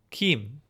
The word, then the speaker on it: Kim: Gim, with a hard G sound as opposed to a J sound. So Gim. And then Western, it's Kim.